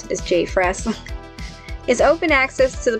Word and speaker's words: JPHRES: p h r e s i'm just gonna pronounce this j fresh is open access to the public so all